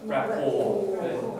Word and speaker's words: rapport: Is it called rapport? No, rapport. The T is silent.